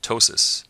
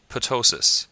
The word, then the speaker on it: ptosis: phonetical difference between these this word is pronounced tosis not ptosis also a personal pet